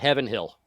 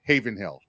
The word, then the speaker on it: Heaven Hill: I call it Heaven Hill because that's what it's spelled. I've been. That is how it's spelled. I've been to the distillery there, and they say Haven Hill.